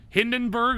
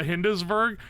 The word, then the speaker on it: Hindenburg: I should have known because it's Hindenburg, not Hindesberg.